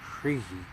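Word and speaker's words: Hrih: Shri is spelled H-R-I-H, but it's pronounced Shri. Shri. Usually when it's chanted, it ends up feeling like two syllables almost. Shri. Shri. So there's a little beforehand, then R.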